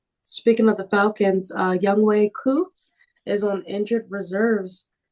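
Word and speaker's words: Younghoe: as June calls him young ho C even though his name is pronounced young way I thought ho it's young ho young way young way I mean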